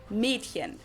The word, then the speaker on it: Mädchen: It's spelled with an umlaut A, but most people pronounce it more as if it was spelled with an E. So it's spelled Mädchen, but we usually pronounce it Mädchen. Mädchen.